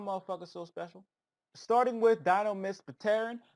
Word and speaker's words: Majespecter: Starting with Majespecter, I am just pronouncing the P because it doesn't really sound right saying just Terran. It's possible that the P is silent, Enigma, but I'm going to pronounce it regardless.